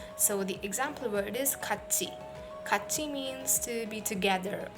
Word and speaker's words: 같이: So the pronunciation of tiet becomes tiet, 같이.